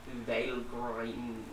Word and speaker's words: Valgrind: This Wikipedia says it's pronounced Valgrind.